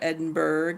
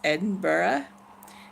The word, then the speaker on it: Edinburgh: am in N ba it's not Attenborough or Edinburgh its Edinburgh as I have been